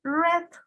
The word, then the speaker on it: read: pasado de frío es red red se escribe igual que se pronuncia diferente peter red tribu c's